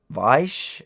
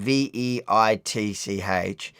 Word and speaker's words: Veitch: Charles Weiss. I'm pronouncing it wrong. So it's Charles and a surname Veitch.